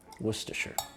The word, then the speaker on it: Worcestershire: Definitely some extra syllables in there. Worcestershire.